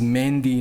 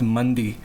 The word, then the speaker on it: Mehndi: had a joke about him i i just mispronounced his last name which is mehndi not mundi mandi is that arabic dish you know he